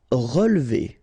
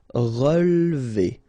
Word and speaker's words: relever: Relever. Okay, so first re, then we don't insist on this here. So, relever, relever. Abandonner.